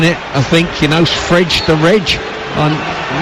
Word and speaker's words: Fred: somewhere this week that the correct pronunciation of his name is fridge yeah too late I'm afraid f r e d spells Fred in England